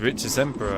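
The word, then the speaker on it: Rictusempra: what you mean is one of us could Rich Emperor it's Rich's Emperor actually I'll have you know how dare you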